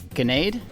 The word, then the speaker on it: Ganade: I'm here at Origins with Mike Ganade. Did I say it right? Yes, you did. Thank you. I asked you how to say your name just a minute ago, and I still, part of me wanted to say Nade, even though it's Ganade.